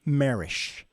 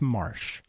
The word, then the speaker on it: Marsh: well not many but some pronounce him marish Chris marish I know he loves that but it's Marsh I call him Martian